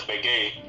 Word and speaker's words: Baguette: Young is pronounced as Baguette. Yeah. Baguette. Yeah, okay, Baguette. Okay, got it. Baguette. Don't have the T sound, just Baguette.